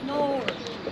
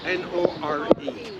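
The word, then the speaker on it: Nore: Nor. How do you say it? N-O-R-E.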